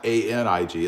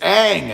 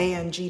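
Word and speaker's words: Aing: A-I-N-G, not A-N-I-G. It's not Anig. It's Ang. And I'm not even sure I'm pronouncing it right.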